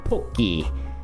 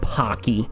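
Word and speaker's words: ポッキー: the Wikipedia here is poki, right? Everybody's favorite treat. It is not called pocky, okay? That would be pa. You can see here we're using po, okay? Po, little tsu, ki, and nobasu. Nobasu means like it's another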